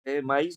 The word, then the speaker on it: maíz: Entonces, por lo tanto, maíz no es un monosílabo, sino sería un bisílabo.